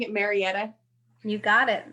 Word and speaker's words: Marietta: So you are a career advisor with, am I pronouncing it Marietta? You got it. Marietta.